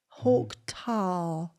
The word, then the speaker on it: Hawk Tuah: Hawk tar. I would not have been able to pronounce that if I'd seen it written down.